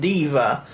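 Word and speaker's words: Daiva: quite well this is Deva which I always thought was pronounced die Eva but it turns out it's pronounced Deva it is a space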